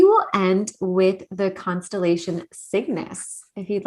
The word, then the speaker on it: Cygnus: The pronunciation is a little tricky, Cygnus.